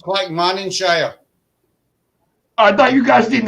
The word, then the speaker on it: Clackmannanshire: it's pronounced Clackmannanshire.